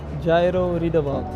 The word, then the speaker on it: Jairo Riedewald: Jairo Riedewald.